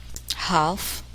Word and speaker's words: half: The letter L is silent in the following words. Listen and repeat each word after the speaker. Half, halves, self, cool, shoe, wool, Lincoln.